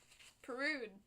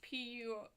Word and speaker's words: Purdue: It's Peru with P-U-R-D-U-E. Actually, I think I've been pronouncing that wrong the whole video. Purdue. I believe that's how you're supposed to spell it. It's not spell it, pronounce it.